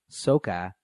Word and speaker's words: SOHCAHTOA: We pronounce it like SOHCAHTOA.